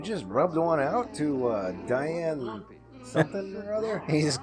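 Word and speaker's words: Diahann: Well, I think it's Diane. It's spelled weird.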